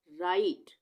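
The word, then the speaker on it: right: silent हो जाएगा जैसे आर आई जी एच टी यहां पर हम क्या इसका उच्चारण करेंगे आई का राइट आई आ गया ना राइट तो यहां पर जी एच का उच्चारण नहीं हो रहा है सिर्फ आर आई और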